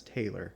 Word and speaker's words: Taylor: water oh my God I always want to say his name is Tyler but it's Taylor Taylor sharidan tayl um and